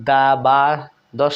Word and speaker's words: দ্বাদশ: স্বাধীন দ্বাদশ আমরা কিন্তু দা বা দশ এরকম কেমন হয় না উচ্চারণ দ্বাদশ মানে ব ফলা এখানেও উচ্চারিত হচ্ছে না এরপরে দেখুন স্বর্গ এখানেও